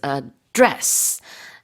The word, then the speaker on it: address: As you said, the stress of this word as a verb is on the second syllable, so it's address. And the 주소 is how do you say it? It'd be address. Address. Right. So on the first syllable.